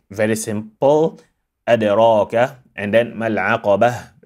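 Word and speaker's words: العقبة: When it is active, we make it very simple, adraka, and then mal'aqabah, stop on a silent ha instead of al'aqabat.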